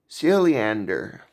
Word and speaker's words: Siljander: This is the Cruiser Chris World Network, and today we're here with Siljander. Good pronunciation.